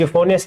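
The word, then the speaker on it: euphonious: यूफोनियस ई यहाँ पे साइलेंट होता है, आपको पता है।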